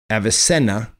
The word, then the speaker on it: Avicenna: before aquinas commonly known in the west as avicenna was a persian polymath who was regarded as one of the most significant physicians and philosophers and writers of the islamic golden age avicenna avasena as it's pronounced right is trying to reconcile the rational